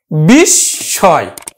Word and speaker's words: বিস্ময়: এই যে ম ফলাটা কিন্তু চন্দ্রবিন্দু আকারে উচ্চারিত হবে, বিস্ময়।